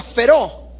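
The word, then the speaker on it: φέρω: Fíjese usted que la palabra griega que se utiliza para inspirados es la palabra feró, con acento en la E.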